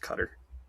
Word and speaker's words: Qatar: I think it's actually pronounced cutter cuz I always thought it was Qatar as well, but I swear it's actually pronounced cutter.